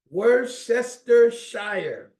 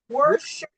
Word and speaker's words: Worcestershire: Worcestershire. I didn't hear anybody. Worcestershire. Worcestershire sauce.